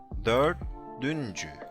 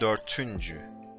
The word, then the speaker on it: dördüncü: Dördüncü, not dörtüncü, because you know, fıstıkçı Şahap or peçeteke, you know these codes to remember.